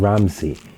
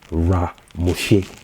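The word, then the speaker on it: Ramesses: Even the name Ramsey is actually a mispronunciation. It should be Ra Moshe, because they come from a family of Moshe, M-O-S-E.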